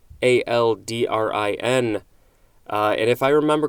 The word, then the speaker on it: aldrin: moving on next is aldrin a-l-d-r-i-n and if i remember correctly this is the same uh spelling and pronunciation of buzz aldrin who went to the moon this is a noun